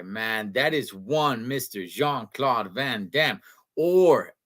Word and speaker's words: Jean-Claude: that is one Mr Jean-Claude Van Damme or as I was told by somebody who was raised and uh born and raised from in Belgium you pronounce it young Claude Van Damme if you guys want